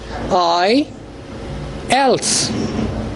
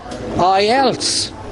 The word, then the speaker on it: IELTS: code they pronounce mispronounce the word the right pronunciation of this word is i else when you say l and if you begin